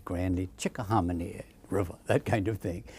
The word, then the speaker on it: Chickahominy: How do you pronounce it? I'd say grandly, Chickahominy River, that kind of thing.